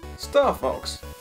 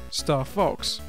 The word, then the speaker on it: Star Fox: Which, if you say it in German, then it sounds like Star Fox. Star Fox? It's because the F is pronounced like a V.